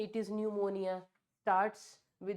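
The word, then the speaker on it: pneumonia: तो भैया अभी प्यूमोनिया नहीं है। इट इज़ निमोनिया starts with the letter P बट इट is silent here.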